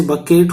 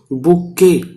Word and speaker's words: bouquet: इसकी स्पेलिंग याद रखना, बुक्के, BOUQUET। वैसे बकेट हो जाता है, बकेट नहीं, बुक्के, टी इसमें साइलेंट है।